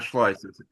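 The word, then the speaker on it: Schleuss: Let's hear from John John Schllo. I hope I'm pronouncing it correctly. You did it right the first time. Yeah. voice. It kind of rhymes with voice or choice and I've lost my voice practically a day.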